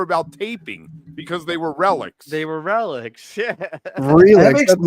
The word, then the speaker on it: Relix: Oh, it's Relics? I've been mispronouncing it my entire life. Yeah. What did you think it was? I thought it was Relix, man. Like it's a relic. Like a relic, dude.